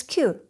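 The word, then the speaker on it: 九: 9 is Q.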